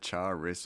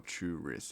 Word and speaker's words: Charis: Is it Charis or Churis? It's Charis. Churis. Oh, true. I do say it like it sounds like Churis, but it's Charis.